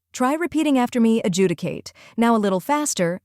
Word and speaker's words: adjudicate: able to pronounce it with confidence the correct pronunciation is adjudicate let's break it down first we have uh